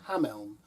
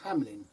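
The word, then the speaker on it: Hameln: in a town called ham Elm you'll know it as the Pied Piper town of Hamlin well in Germany it's pronounced differently it's a lovely place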